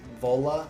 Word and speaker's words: Vola: I've seen Vola, is how you say it, Vola, pop up